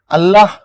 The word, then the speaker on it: আল্লাহ: আল্লাহ নিচে হসন্ত দিচ্ছি। আল্লাহ যদি হসন্ত না থাকে হবে আল্লাহ। আল্লাহ হও কথাটা ভুল। কেন?